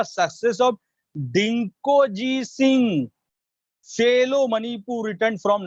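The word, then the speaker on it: Dingko: डिंकोजी, आपने इसका नाम नहीं सुना होगा लेकिन मैं आपको बताता हूं कि डिंको जी, देखो इसमें जी साइलेंट है, डिंको जी।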